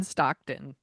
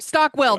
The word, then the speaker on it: Stockwell: I really like Keith Gordon in it, but I also was wondering where is John Stockton? Stock I said it right. Stockwell.